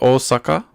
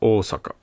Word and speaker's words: Osaka: long and with oaka also the O it's not Osaka it's oaka so even when I'm